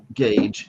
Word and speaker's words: gauge: So the first G here, gauge, is hard.